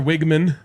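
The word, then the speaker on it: Weigman: Uh, Connor Wigman, as we learned, is the way to pronounce it.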